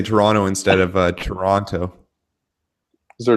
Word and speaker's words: Toronto: is there a difference Toronto Toronto how did I say if you're not if you're not from Toronto you say Toronto but if you are from Toronto you don't pronounce that last T oh the last T